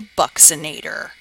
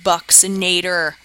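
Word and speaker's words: buccinator: I put the pronunciation up here because everybody pronounces it wrong it's called the bucs inator the bucks inator and this muscle is kind of the hollow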